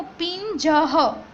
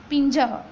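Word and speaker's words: पिञ्जः: Almost आपने देखे होंगे बहुत सारे वर्ड में पीछे दो डॉट है, जिसका प्रोनाउंसिएशन क्या हो रहा है, ह जैसा, यानी कि उसको संस्कृत में विसर्ग कहा जाता है, विसर्ग। उसका प्रोनाउंसिएशन कैसे करेंगे, तो पिंजह, पिंजह।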